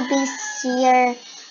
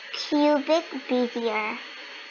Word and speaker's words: Bezier: Learn how Bezier curves work.